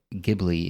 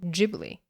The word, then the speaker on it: Ghibli: English I feel like it should be called Ghibli I believe it's pronounced Ghibli and it actually comes from an Italian word